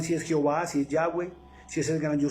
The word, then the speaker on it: Yahweh: En hebreo su nombre es YHWH, Yahweh. No tiene vocales, pero en la pronunciación se le pusieron como para poder pronunciar